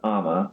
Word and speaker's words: Amma: So it's pronounced Amma, like mama.